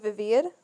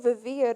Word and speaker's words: vivir: And I was like, oh, she's saying vivir, but she's pronouncing it with a B.